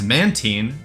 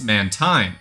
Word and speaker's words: Mantine: Sometimes this guy is Mantine, as in marine, and sometimes it's Mantine, as in brine. Yo, Mantine.